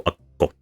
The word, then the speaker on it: Akko: it, no one's listening, you might notice that Ak involves the A and a stop. This stop is the gemination. So you are tensioning your mouth for the K during the first syllable, and then the second syllable is the release of the K and the second vowel.